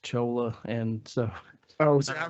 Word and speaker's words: Chola: demeaning to you in any way, but it's pronounced Chola and so I was I was told it's C-H-O-L-A, so sorry.